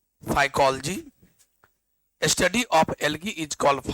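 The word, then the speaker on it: phycology: study of एल्ग is called study of एल्ग is called फाइकोलॉजी या फाइकोलॉजी real pronunciation फाइकोलॉजी study of एल्ग इज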